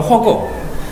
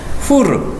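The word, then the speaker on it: חור: 이제 그거 기억하시죠 벤허 그러니까 그게 영어식 발음으로 허고 후르 이제 풀 풀의 아들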